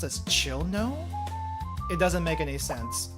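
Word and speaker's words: Cirno: I'll pronounce it the fandom way. Or at least how it looks phonetically.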